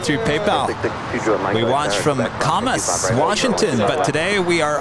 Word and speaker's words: Camas: We watch from Camas, Washington, but today we are honored to visit you.